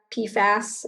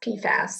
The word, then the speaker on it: PFAS: solid understanding of pifa pfas is that how you say it yeah well you could say it for fluoridated chemicals or pfas pfas is just what everyone will understand let's say i'm putting